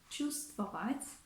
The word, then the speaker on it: чувствовать: What's more, in the word чувствовать, чувствовать, we also omit the consonant V because it's easier for the native speakers to pronounce it.